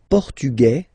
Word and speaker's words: portugais: Masculine, portugais, you don't pronounce the S. Feminine form, portugaise, you pronounce this z sound, okay?